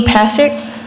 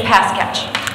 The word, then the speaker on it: Passick: No one will ever pronounce it right. It's Pasketch. Okay, sorry. My mother-in-law, Pasketch. before I knew who she was going to be, my mother-in-law said, like a football.